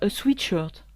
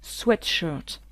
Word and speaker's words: sweatshirt: sweat et en France on a tendance à mal le proncer et à dire sweetshirt ce qui est ridicule puisque sweet ça veut dire doux ou alors a sweet c'est un bonbon on peut pas dire mets ton bonbon hein ça c'est ridicule quand un anglais nous entend parler il ne comprennent pas du tout tout donc ce vêtement se dit sweat sweatshirt si on lui rajoute